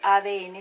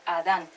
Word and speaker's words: Adán: Entonces, no se dice ADN, sino Adán.